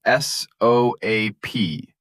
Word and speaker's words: soap: And the thing you wash with is s o a p pronounced soap like boat.